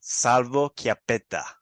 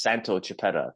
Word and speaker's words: Santo Chiappetta: a personal trainer welcome Salvo chiapeta hey how's it going Andrea it's uh so to pronounce my name properly it's Santo chipetta Santo Santo no worries